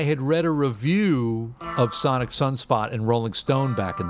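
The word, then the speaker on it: Psonic Psunspot: the dukes of stratosphere called sonic sunspot but sonic is spelled p-s-o-n-i-c and sunspot is also a p-s-u-n you know so i had read a review of sonic sunspot and rolling stone back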